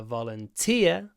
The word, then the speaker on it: volunteer: Olympics in 2012 a volunteer stress on the final part of the word volunteer I was a volunteer